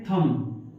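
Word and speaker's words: thumb: बो इसे क्या पढ़ेंगे क इससे क्या पढ़ेंगे थम समझ में आ रहा है अच्छी तरह से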